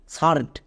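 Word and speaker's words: shirt: যেমন দেখো এস এইচ আই আর টি সারড এখানে দেখো শব্দের একদম মাঝে বা ভিতরে যাই বলতে পারো আই আর আছে আই আর এর জন্য আমরা আর সাউন্ড করব এবং আমি এক্ষুনি বললাম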